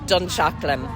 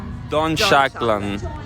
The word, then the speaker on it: Dunshaughlin: It's pronounced Dunshaughlin. Dunshaughlin.